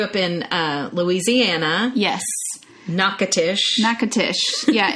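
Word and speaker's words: Natchitoches: in uh louisiana yes nakatish nakatish yeah it looks it's just or something that's how you would want to say it because it's very hard to pronounce but louisiana louisiana and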